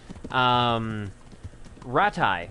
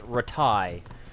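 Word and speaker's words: Rattay: Or, like, they put too much emphasis on the first A. Ratai. Ratai. It's almost like a R-A-H.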